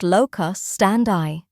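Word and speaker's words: locus standi: So the first thing I need to explain is the concept of lock stand that is pronounced locus stand eye.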